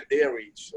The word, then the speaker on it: Darwich: É igual a Greenwich Sandwich, entendeu? Eu nem pronuncio direito. Falar com o inglês mesmo é Darwich.